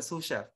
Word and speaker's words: sous chef: uh the susha okay sous chef you pronounce it sous chef is uh the person